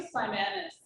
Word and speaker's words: Simanis: Simanis, that would be how you pronounce my last name.